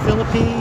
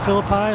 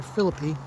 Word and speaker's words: Philippi: And you may be wondering why I call it Philippi instead of Philippi, like the usual biblical pronunciation. I've been told by a number of West Virginians that this is the correct pronunciation around here, Philippi.